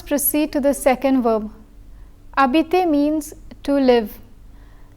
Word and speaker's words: habiter: The H is silent because it is a mute H. Since such an H is similar to a vowel, an elision is required. So we say j'habite instead of je habite.